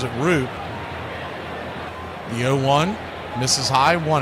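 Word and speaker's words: Roupp: Landon RP the pitcher spelled R O U P P he pronounces it RP the 01 misses high one and one righty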